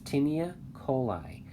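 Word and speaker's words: taeniae coli: Sometimes it's spelled T-A-E-N-I-E. But anyways, tinea coli.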